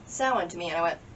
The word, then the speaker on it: Samhain: like that so i always thought it was samhain that's how i always saw it written because that's how it's pronounced in movies and about 20 years ago somebody did say sound to me and i went crazy [ __